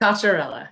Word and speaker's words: Cocchiarella: Cocchiarella. Yeah. Cocchiarella.